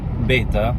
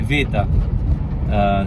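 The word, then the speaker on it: βήτα: birth to they say in modern greek you'll hear them they don't say beta beta they say vita so it's alfa vera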